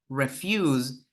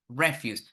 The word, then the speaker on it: refuse: Here, the difference is the emphasis falls on the second syllable in the first word, refuse, and in the second word, the stress falls on the first syllable, refuse, and it means garbage, basically.